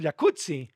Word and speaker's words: jacuzzi: Oye, así que el jacuzzi, entonces deberíamos pronunciar el jacuzzi. Exacto. Como pizza como Rampazo, como Claudia Rampazo.